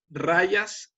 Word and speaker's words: rajas: mente, que son sattva, rayas y tamas. Rayas se escribe con J, rajas.